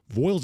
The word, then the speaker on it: Voyles: get great savings as it comes from Ed Voiles Hyundai on a awesome vehicle, of course, that being Hyundai.